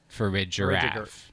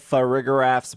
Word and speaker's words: Farigiraf: I would pronounce that Farigiraf. Like giraffe for rig, Farigiraf.